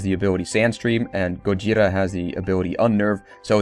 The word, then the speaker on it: Gojira: why not Godzilla well because the Americans butchered the name and it's actually go jira from japan japanese and now why is